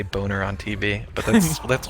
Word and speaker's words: Boehner: John Boehner. That's not Boehner is like B A Y N E R.